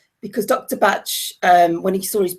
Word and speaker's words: Bach: realize that actually it's it's called Dr bat not to not bark because Dr batch um when he saw